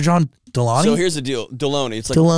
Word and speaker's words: Delony: Delano here's the deal deloney it rhymes with the baloney except with the D yeah it was a